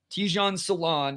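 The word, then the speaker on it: Tidjane Salaün: Tijan Salon is how it's pronounced according to that.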